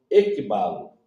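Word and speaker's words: ἐκβάλλω: A palavra conduzir é traduzida do termo grego ekbalo. Ekbalo se escreve assim: E-K-B-A-L-L-O, com dois pingozinhos em cima,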